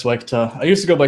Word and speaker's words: SWEGTA: Or am I even pronouncing your name right? Yeah, it's SWEGTA.